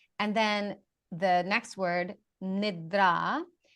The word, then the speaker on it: nidra: that can be helpful so yoga nobody really mispronounces yoga So yoga and then the next word nidra means sleep.